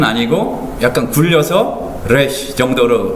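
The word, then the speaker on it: רֵישׁ: 이제 요거는 이 Q 발음 비슷하게 이제 그렇게 된다고 보시면 되고요. 이렇게 이게 P가 아닙니다. resh, 다음에 resh, 브러쉬.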